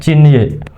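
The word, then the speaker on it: 津液: Jin y zalir atau istilah lainnya adalah jin y atau bacanya cin y.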